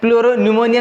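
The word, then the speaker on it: pleuropneumonia: प्लूरो न्यूमोनिया में P silent, प्लूरो न्यूमोनिया like organism, न्यूमोनिया जैसे जीवधारी।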